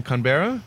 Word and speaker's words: Canberra: welcome great to be here thank you from Canberra is how you pronounce it clothes can berra berra yes yes